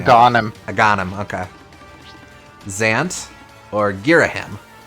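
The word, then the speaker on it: Agahnim: I've never known how to pronounce his name. Aghanim.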